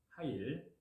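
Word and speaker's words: חַיִל: 여기에서 현숙한로 번역된 히브리어 원문의 표현에는 히브리 발음으로 하일입니다. 하일.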